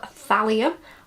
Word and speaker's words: thallium: So he also managed to get his hands on like a heavy metal substance called thallium. I think that's how you pronounce it.